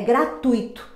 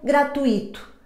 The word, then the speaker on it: gratuito: O U e o I permanecem juntos na mesma sílaba, sendo o U a vogal tônica.